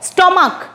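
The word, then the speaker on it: stomach: আমি আগেরটাই বলেছিলাম সিএইচ চ, সিএইচ ক, স্টমাক, এটা কিন্তু শুধুমাত্র এস যোগ করে, স্টমাক মানে পাকস্থলী, ক এখানে ক, স্টমাক, ক উচ্চারণ হচ্ছে সিএইচ এর উচ্চারণটা, শেষে সিএইচ থাকছে, আমি বারবার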